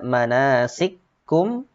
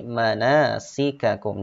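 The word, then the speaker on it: مَنَاسِكَكُمْ: Kemudian berikutnya manasikakum, tidak dibaca manasikum, tetapi manasikakum, dibaca jelas kedua-dua hurufnya.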